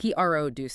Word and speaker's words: produce: Emphasis on the first syllable. P-R-O-duce section. Got it. But the verb, like to make something. I produce videos. Yeah. The emphasis shifts to the end.